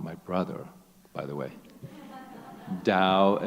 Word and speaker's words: Tao: brother by the way Dao is spelled as Tao but you know these